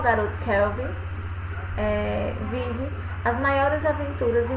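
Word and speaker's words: Calvin: e haroldo no brasil mas é a pronúncia a pronúncia correta e kelvin kelvin underlove tá o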